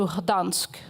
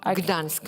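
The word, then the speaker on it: Gdańsk: And I told her I was traveling in the summer to Gdansk. I'm pronouncing it wrong. Gdansk, yes.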